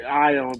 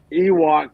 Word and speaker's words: Ion: I always want to say Ion, but they're pronouncing it Ewok Kudalova.